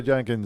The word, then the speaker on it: Jahnke: sarah janke how are you doing dr sarah jenkins how are you good good how are you